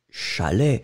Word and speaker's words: chalet: Donc, nous gardons chat et nous gardons lait. Et nous allons obtenir, eh bien, le mot un chalet.